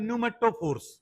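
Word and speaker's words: pneumatophores: और इन रूट्स का नाम होता है न्यूमेटोफोर्स। क्या नाम होता है? पी को साइलेंट रख दो।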